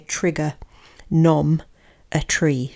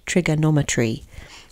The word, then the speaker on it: trigonometry: So I've put here trigger nom a tree. Trigonometry is how I would remember how to say this word.